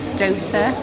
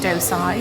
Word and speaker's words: dosa: incorrectly I just realized I think it's Dosa not dose ey it's because it had an ey on the menu so it's confused me a little bit but it's my